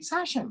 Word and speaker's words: Sashin: So Sashin. Sashin. Right, Sashin. Yeah, like a sash on a dress.